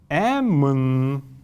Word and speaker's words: эмн: Следующее слово, пример с буквой Эмн. Эмн. Эмн. Вот этими красными кружочками я обозначаю те неясные гласные, которые при произнесении произносятся, но на письме не отражаются.